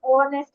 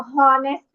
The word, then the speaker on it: honest: আচ্ছা, দেখো এখানে একটা টুইস্ট আছে, দেখো এইচ এর উচ্চারণ না হলে এন বসে। যেমন দেখো, অ্যান অনেস্ট ম্যান, তুমি কি কখনো বলো হনেস্ট ম্যান?